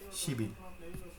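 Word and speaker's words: 십이: এই হচ্ছে শিবিল। আশা করি আপনারা বুঝতে পারছেন, এটা হচ্ছে শিবিল। একইভাবে যদি 12 দিই, শিবি, উচ্চারণ শিবি। 10 2, দেখছেন? 10 2 10 আর 2, 10 2 12, শিবি।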